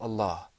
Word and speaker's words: Allah: lamb in that word this lamb is a very interesting lamb sometimes it's pronounced with the full mouth sometimes not so the question that